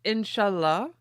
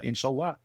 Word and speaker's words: inshallah: less less emphasis on the last syllable. People always want to because they hear Allah and they're like, "Ah, inshallah." It's actually inshallah. It's in the middle.